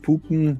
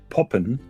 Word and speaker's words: poppen: We don't pronounce it Puppen, we pronounce it Poppen. Mm-hmm. So it doesn't have the double O.